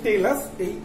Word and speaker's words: talus: কলুভিয়ালকে কিন্তু আলাদা করে তোমাদেরকে একটু মনে রাখতে হবে, এবং এটা কিন্তু টেলাস সরি উচ্চারণটা হচ্ছে টেলাস, এইটা কিন্তু কলুভিয়াল সয়েলকেও বলে।